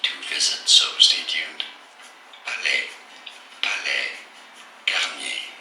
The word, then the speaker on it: Palais Garnier: Palais Garnier is how it's said in French, so in English you could say it as Palais Garnier. Palais Garnier, or in French, Palais Garnier.